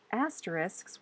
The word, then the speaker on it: asterisk: In the past, asterisks were used to show the omission of a